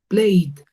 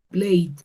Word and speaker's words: played: Por acá, play, el verbo jugar también termina en esa vocal I, en ese sonido vocal I. Entonces lo pronuncio con una D. Yo digo played, played.